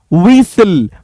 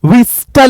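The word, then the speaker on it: whistle: उसको नहीं पढ़ते हैं ये क्या होगा विसल विस्टल नहीं ये होगा कैसल कस्टल नहीं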